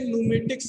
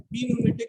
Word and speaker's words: pneumatic: देखिए इसे न्यूमेटिक्स कहते हैं या न्यूमेटिक कहते हैं। पी न्यूमेटिक नहीं कहते, पी साइलेंट रहता है इसमें।